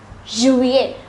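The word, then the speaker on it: juillet: as Juan you went July is pronounced as Juliet August is pronounced as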